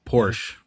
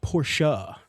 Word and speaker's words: Porsche: Porsh. Porsche. I guess it's Porsh. The answer is it's Porsha. Two syllables, the e is not silent in German, named after Ferdinand Porsche, not Porsh.